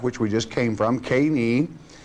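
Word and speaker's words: קֵינִי: I want to pull up on the screen, if I may, the word Kenites as it is pronounced in the Hebrew tongue before the translation. And it is Keni.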